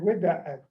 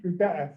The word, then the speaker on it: Gwidats: You might also hear Gwidats. There's a couple of different ways to spell it, and I think it's just a regional thing. Gwidats, that's how we say it, Gwidats.